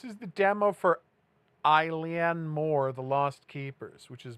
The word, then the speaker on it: Mor: It is pronounced Moore.